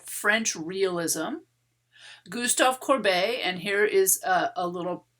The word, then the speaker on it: Courbet: the 19th century movement called french realism gustav corbay and here is a little a way to help you pronounce it corbei he is the first major figure that we